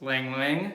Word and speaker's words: ylang-ylang: to be using the lang lang i hope i'm saying that right y-l-a-n-g i believe that's pronounced ylang ylang shaving soap and the